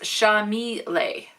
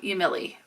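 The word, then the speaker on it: Yamile: Oh, it's pronounced Shamile. Shamile, not Yamili, or however I said it.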